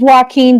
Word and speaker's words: Walken: Yeah, I didn't even know how you how you pronounce his name, but I went to the North Carolina Central website and they say his name he's it's pronounced Wen Davis.